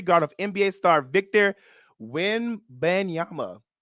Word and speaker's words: Wembanyama: They're saying Britney Spears was allegedly smacked in the face by security guard of NBA star Victor Wembanyama. Did I say it right, Mark? Almost. Victor Wembanyama.